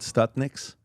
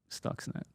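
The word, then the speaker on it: Stuxnet: Stutnix. Yeah. Is that how it's pronounced? Stux. Stux. Net. Stuckset.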